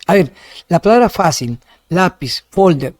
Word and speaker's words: lápiz: ¿Es lápiz o lápiz? No, por eso no es lápiz, es lápiz. Lleva tilde porque termina en Z.